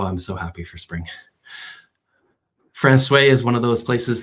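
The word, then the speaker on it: François: Francois, you would probably say Francois. The locals say Francois.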